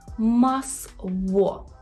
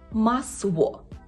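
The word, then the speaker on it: masło: Наприклад, у слові «масво», «масво». Масло. Масло. Не масло, це не є л. У польській взагалі нема твердого звука л. Це є в.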